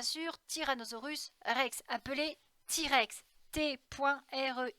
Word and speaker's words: T-Rex: pas ti point rex t-rex en américains parce que le thé se prononcent ti à négliger c'est l'abréviation